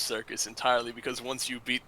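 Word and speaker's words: Syrcus: That's how you know it is pronounced that way.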